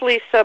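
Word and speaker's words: Lise: well my first name my name is Lisa but my first name is spelled l-i-s-e and my name Lisa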